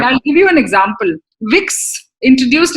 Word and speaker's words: Vicks: give you an example vicks introduced its cuff drops into the german market without realizing that the german pronunciation of b is f making wix slang for the sexual intercourse colgate launched